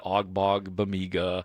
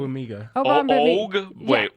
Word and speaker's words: Ogbongbemiga: I think it's Obong. OGB typically is the G is silent in the first part. Okay. I got to look that. Okay. Yeah, typically. it's Ogbongbemiga. Amen. Obong. Ogbongbemiga? No, take the G out. Yeah, the first Obong.